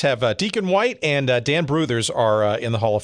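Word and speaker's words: Brouthers: I mean, Hardy Richardson, Deacon White, Jack Rowe, and Dan Brothers. And Bruthers, and Dan Bruthers, yeah. Excuse me. These guys, yeah, Bruthers is how it's pronounced.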